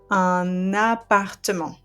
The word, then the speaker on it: un appartement: But the liaison will allow me to pronounce the last consonant of that article and link it to the noun. So it's going to become un appartement.